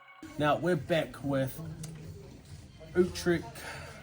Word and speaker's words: Utrecht: Now we're back with Utrecht. Is that how you say it? Utrecht? Yep.